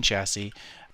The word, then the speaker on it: chassis: Now again, we still need a simple machine chassis. What? The third S is silent.